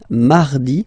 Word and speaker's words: mardi: So you can hear that you don't pronounce it that strongly this air mi. Okay. You don't need to go too deep like No, no, no. You don't move your tongue.